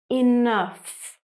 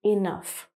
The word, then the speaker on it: enough: Enough. So sometimes, with some words in English, GH is placed at the end of the word and is pronounced F, like enough.